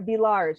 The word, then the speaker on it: Villars: But I will mention, and Chip reminded me, Claire's full name is Claire Villars. You pronounce the S, correct?